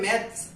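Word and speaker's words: maths: क्योंकि यहाँ पे आप मैक्स पढ़ रहे हैं, मैक्स कुछ नहीं होता है, यहाँ पे होता है मैथ्स, ठीक है।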